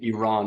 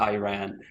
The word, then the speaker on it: Iran: But yeah, like I want to just like have this opening here that the pronunciation is Iran, it's not Iran.